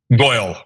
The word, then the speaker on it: Goyle: Goyle. Like Doyle.